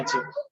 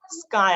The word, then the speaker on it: chi: बट याची spelling जी आहे ती ची स्पेलिंग आहे, CHI ची. Okay, so define magnetic susceptibility याची आपल्याला आता डेफिनेशन बघायची आहे, आणि याचा सिम्बॉल काय आहे, स्काय आहे.